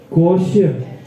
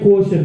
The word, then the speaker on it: quotient: Terus yang kedua adalah EQ atau EQ, emotional quotient. Bacanya quotient, bacanya apa? Quotient, oke. Bukan questions ya, beda.